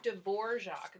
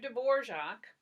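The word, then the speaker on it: Dvořák: dvorak that's how you pronounce his name mr. dvorak he lived in kind of gypsy country so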